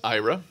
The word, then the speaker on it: Aira: IRA first of all it's a IRA but pronounced IRA it's something in the tech field what they